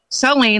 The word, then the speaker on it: Saleen: So most people want to say saline, like the solution for your eye. Yes, I've heard that. He wants to tell you that it's saline, like gasoline, which helps people remember how to pronounce it.